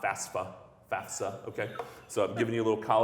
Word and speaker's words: FAFSA: it FAFSA, not FAFSA, FAFSA, okay? So I'm giving you a little college knowledge out there, parents, students. FAF, the F comes before the S, FAFSA.